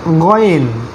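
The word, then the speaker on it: غين: অক্ষরের নাম হচ্ছে খ, এই অক্ষরটার নাম হচ্ছে গয়েন, গয়েন গয়েন, এটাকে খা বলবেন না, এটাকে গাইন বলবেন না, এটা হলো খ, এটা হলো গয়েন, মাশাআল্লাহ।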